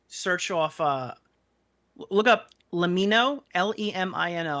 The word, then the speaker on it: Lemino: And just search off, look up Lemino, Lemino. I believe his name's pronounced Let Me Know, but Lemino is how it's spelled.